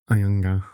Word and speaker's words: Anyanga: So, Anyanga. Ayanga. Ayanga. Almost like their first N is silent.